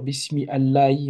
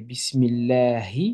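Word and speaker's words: بسم الله: On ne devrait pas dire Bismi Allahi, mais Bismillahi.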